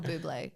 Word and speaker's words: Bublé: At Michael Bublé Yeah. with the accent on the E.